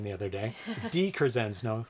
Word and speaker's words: DiCrescenzo: DiCrescenzo, not DeCrescenzo.